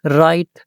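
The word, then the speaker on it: write: Read read books books राइट W silent कर दें।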